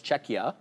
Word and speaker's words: Czechia: Republic is not called Czech Republic anymore it's czechia oh right you're calling the name of the